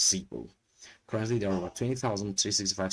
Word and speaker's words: Zeebu: The pronunciation is ZEEBU.